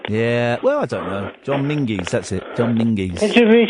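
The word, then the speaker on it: John Menzies: John Mingis. John Mingers. Extensive shop. Yeah. Well, I don't know. John Mingies.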